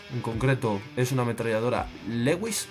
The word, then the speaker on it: Lewis: En concreto, es una ametralladora Lewis o Lewis, con pronunciación posh británica.